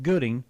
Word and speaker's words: Gutting: Uh, we pronounce it Gooding.